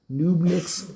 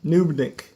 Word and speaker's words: Knubnik: every kill, Knubnik's twisted sense of humor is overshadowed only by his lethal effectiveness.